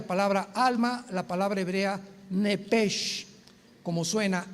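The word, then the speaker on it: נפש: Nepesh se pronuncia en el hebreo como JLS, es nepej. Nep. Por eso el Espíritu Santo se pronuncia roaj, se escribe roach, ch. Roaj, el cadosh. Entonces, la sh se pronuncia como J.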